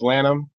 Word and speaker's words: Lanham: last name lamp them it's Lanham le in H am and that's for um like people who are familiar with the Maryland area there's a Lanham Marilyn so and that's